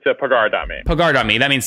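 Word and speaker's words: Pagar.me: it is it pigard on me or or pager on me it's a pagar domain picard on me that means to pay right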